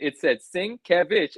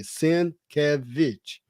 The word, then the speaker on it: Sienkiewicz: Sienkiewicz, and you still said Sienkiewicz. Like he had I, the syllables broken out, and you still just mashed them together when you said it.